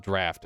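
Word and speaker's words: draught: not have to worry uh drought is pronounced draft oh thank you dr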